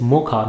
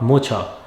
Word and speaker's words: mocha: It is mocha, not mocha.